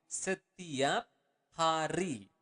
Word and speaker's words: setiap hari: Again, you want to pronounce the word R clearly. Setiap hari.